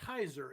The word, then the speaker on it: Hizer: his work but yes his last name does rhyme with fizer so you got him there line number three Kent Heiser and his wife are